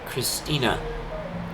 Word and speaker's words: Christine: she would pronounce it Christina, because the E in Dutch is like the like the schwa vowel kind of sound.